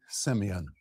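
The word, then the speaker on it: σημεῖον: It is the Greek word Simeon spelled like this in Greek. If you want to write it down in English, you would spell s e m e i o n.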